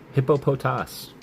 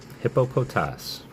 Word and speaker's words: Hippopotas: All right, proper pronunciation for this Pokemon. Are you ready? Hippopotas. Hippopotas.